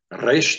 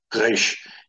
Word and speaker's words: Resh: And then Israelis, there's two ways they would pronounce resh. One would be like a trill, like in the Spanish languages. They would say resh. They would roll the R, resh, resh. So that would be acceptable. And then there's the back of the throat, that is resh.